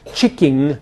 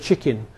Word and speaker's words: chicken: Hypercorrection gives rise to would-be elegant pronunciations such as chicking instead of chicken.